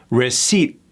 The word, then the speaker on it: receipt: It's not recipient First of all, what did I say about that T? Gone. Receipt. Receipt. Receipt. Not receipt. It just sounds like we're trying too hard. You might think like you're doing good by being articulate and enunciating that T at the end, but in reality, it's a dead giveaway that you're not a native.